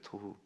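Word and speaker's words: תֹּהוּ: 토후. 토후. 히브리어들은 이렇게 그 발음을 가지고 어휘를 가지고 이렇게 이렇게 좀 대비도 하고 막 그러는데 토후 뭐하고 비슷해요? 토부하고 비슷하죠. 참 좋았더라 토부하고 허망하다 토후 어이 비슷한 발음으로 확 둘 완전히 다른 두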